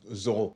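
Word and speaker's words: Zoreaux: Oh, it's pronounced Zorro.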